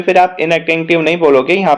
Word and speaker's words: inattentive: Don't leave your basket अनअटेंटिव। मतलब इनअटेंटिव, वो actually अनअटेंटिव का प्रोनाउंसिएशन आता है, but that is actually इनअटेंटिव।